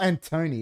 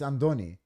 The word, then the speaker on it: Andoni: not Antoni, it's Andoni. Where's the D? There's no D. No, but that's how we pronounce it. Oh, yeah, true. It isn't. There's no It's like D. it's like Baba, but it's spelt P-A.